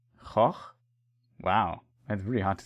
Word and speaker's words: Koch: So today we learned a bit about this, but it's pronounced Koch Media. That is, and it seems like they established a new thing there. Koch could be pronounced quite rudely in English.